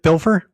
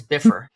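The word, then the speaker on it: Bifur: Did I say Biff Bilfer? Biffer. Yeah, it sounded like you were slipping an L into his name. It's It's Biffer.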